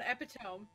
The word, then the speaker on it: epitome: Yeah, nobody will let me live down epitome.